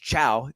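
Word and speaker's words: Thiaw: goes down and uh which is pronounced Chao t-h-i-a-w warms up but he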